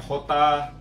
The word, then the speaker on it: jota: Terus ada J juga, mereka bilangnya Jota, ya, beda juga.